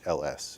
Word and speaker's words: Nehls: It's Nehls.